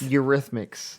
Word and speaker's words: Eurythmics: It's pronounced these. My guys, I have literally been saying this. Eurythmics. Mix? Eurythmics.